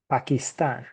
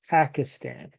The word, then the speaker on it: Pakistan: Pakistan okay in Spanish Pakistan okay what I was saying just a second ago is that the accent a lot of times in Spanish falls on the end of the word Pakistan and in English it